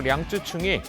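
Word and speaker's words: 楊紫瓊: 제95회 아카데미 시상식에서 홍콩 배우 양자경, 중국어 발음으로 량쯔충이 중국 동양인 최초로 여우주연상을 손에 쥐었습니다.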